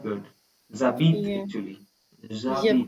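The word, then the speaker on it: j'habite: Zabit yeah. actually. Zabit. Yabit.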